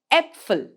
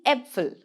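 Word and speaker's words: Äpfel: melon it's e melon that's exactly how a with two dots on top of it is pronounced in german an example here would be apfel the apfel which means the apples the apfel now let's take a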